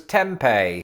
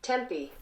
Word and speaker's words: Tempe: anything to go by i suspect that that e on the end of the word renders the pronunciation something like tempe instead of my initial belief which was tempeh and before i attempt to talk myself out of this let's lock it in i hate that phrase tempi but hold on because wikipedia says that the stress is on the second syllable which isn't true because